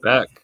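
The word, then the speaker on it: Bech: Beck, yeah, Jack Beck.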